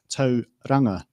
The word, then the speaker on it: Tauranga: So in this case, the correct pronunciation is Tauranga, and Tauranga is halfway there.